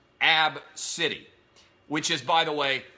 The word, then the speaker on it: ABCDE: real AB B CDE e and it is pronounced AB city which is by the way the greatest name